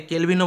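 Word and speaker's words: Colvin: বিশ্ববিদ্যালয়ের প্রথম উপাচার্য উইলিয়াম কোলভিন অনেকে কেলভিনও বলেন সমস্যা কিন্তু কোলভিন সঠিক উচ্চারণ কলকাতা বিশ্ববিদ্যালয়ের প্রথম আচার্য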